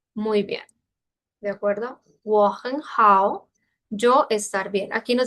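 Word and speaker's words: 我很好: Aquí hay tres tercer tono. Cada vez que hay así varios tercer tono, cae a segundo tono. Porque de por sí sería un poco complicado, ¿no? Es la pronunciación 我很好, 我很好, 我很好.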